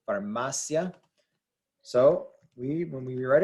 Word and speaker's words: farmacia: this is pronounced formacia farmacia the stress is right here the I and the a blend together to make a single syllable farmacia so we when we